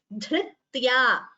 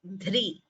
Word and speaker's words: धृत्या: So it is not ri or ru. This is dh plus the swara r gives you this gunitaksharam dhr. So please note the pronunciation accurately. Dhritya, because sometimes there is a tendency to pronounce it as dhri or dhru. That would be wrong.